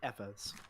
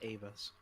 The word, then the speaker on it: Eva: You know what really messed me up was the dub of End of Evangelion, because they started like pronouncing them as Evas instead of Avas.